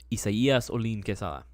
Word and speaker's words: Isaias Olin Quesada: The actual pronunciation of my real government-issued name is, and this is a whole name. I'll give my whole name out this one time. I'll give the proper pronunciation as well. Isaias Olin Quesada. That is literally how you're supposed to pronounce it.